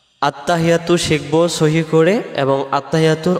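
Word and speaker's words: التحيات: হাজের হি, ইয়ার উপরে তাসজিদ আসছে, এই তাসজিদটা সহ আদায় করার জন্য বলতে হবে আত্তাহি হেই, এমন আওয়াজ হবে আত্তাহিয়াতু আত্তাহিয়াতু আত্তাহিয়াতু।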